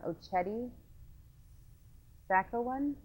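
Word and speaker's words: Oceti Sakowin: And the other camp, the larger one, is, and I'm going to say wrong, Ocheti Sacco one? There's different ways of pronouncing.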